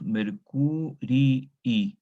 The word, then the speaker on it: Mercurii: Ustedes escuchan cuando yo leo el genitivo dos vocales I. Una I es de la raíz y la otra I la terminación del genitivo. Mercurius, Mercurii. Se escribe una sola, pero se lee dos, ¿no es cierto?